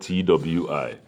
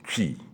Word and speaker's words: Twi: And Chi is spelled T-W-I. Sometimes people say Twi. No, it's Chi, Chi, Chi, Chi, Chi.